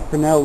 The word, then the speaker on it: Fresnel: Alright, this is my Fresnel lens, spelled Fresnel. I guess you don't pronounce the S, but I put it in a wood frame, otherwise it's kind of bendy.